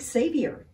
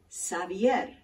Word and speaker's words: Xavier: has multiple correct pronunciations some people pronounce it Xavier like Xavier University and a friend of